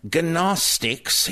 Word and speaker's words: Gnostic: If you're talking about the mystical type of early Christianity, G-N-O-S-T-I-C, that is Gnostic. The G is silent.